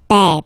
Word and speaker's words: père: grand-père, grandfather, le grand-père, remember, E accent grave like that. It's this open E. Père, père.